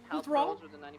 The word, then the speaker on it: Uthrall: Uthral.